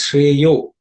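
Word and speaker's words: श्रेयो: The first word is Shreyo, which is actually Shreyaha. The visarga at the end becomes O because of Sandhi.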